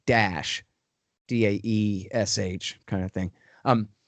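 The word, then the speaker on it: Daesh: call it in arabic the acronym is pronounced dash d-a-e-s-h kind of thing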